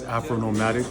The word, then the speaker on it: Afronomadik: So yes, you did say the name right. It's Afronomadik, but it's spelled with a K at the end.